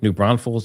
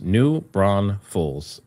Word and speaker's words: New Braunfels: New Braunfels is pronounced New Braunfels.